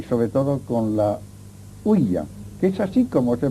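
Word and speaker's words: ouija: que otros fenómenos y sobre todo con la uya, que es así como se pronuncia. Generalmente se dice uija, pero la verdad es que i es si en francés y así se pronuncia.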